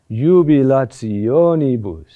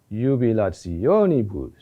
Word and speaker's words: Jubilationibus: Where is the accent? The accent is on O. It sounds like this. Jubilationibus. Jubilationibus.